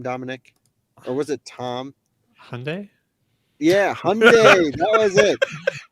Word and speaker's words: Hyundai: you got it right Hyundai Sunday don't don't stop training yourself back you know right Sunday like Sunday like Sunday brilliant all right but I